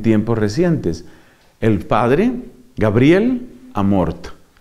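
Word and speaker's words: Amorth: recientes, el padre Gabriel Amort. Amort se escribe con TH.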